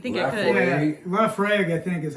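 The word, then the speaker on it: Laphroaig: Yeah, Lafroig, I think, is how it's pronounced.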